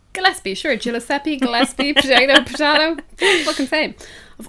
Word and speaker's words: Gillespie: has Aaron Gill can't pronounce that is you pronounce it gaspie Gillespie sure gppi gaspie potato potato